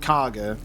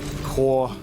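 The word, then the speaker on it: Kagha: how to pronounce, but it's not Karga, which is how it's spelt, but it's like Korha or something like that, to save the refugees, because they're being kicked out by our druids.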